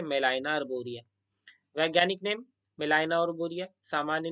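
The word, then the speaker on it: Gmelina arborea: गेमेलाइनिया अर्बोरिया दिखाएगा, बट जब आप इसको प्रोनाउंसिएट करोगे तो ये जो हमारा ग है ना, और यहाँ पे जो हमारा जी है, ये क्या होता है, ये बेसिकली जो है साइलेंट है। ठीक है, इसलिए मेलाइना अर्बोरिया।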